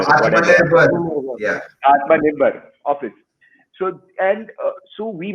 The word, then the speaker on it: Atmanirbhar: I cannot ever pronounce that word. Self-reliant office. What is it called? Atmanirbhar. Atmanirbhar.